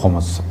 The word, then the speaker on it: خمس: عام طور پہ خمس کہا جاتا ہے، لیکن جو صحیح تلفظ ہے وہ ہے خمس۔ اگر کسی چیز کو